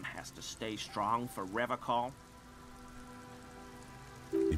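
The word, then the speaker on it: Revachol: The serene way, the fine way, with an elegant s.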